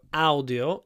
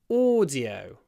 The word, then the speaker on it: audio: on my computer so audio is audio lips forward audio double Sound audio Americans say audio audio audio audio audio audio the